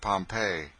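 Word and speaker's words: Pompeii: the buried city of Pompei they pronounce it pompe I always had an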